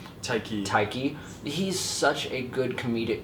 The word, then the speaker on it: Taika: Taika.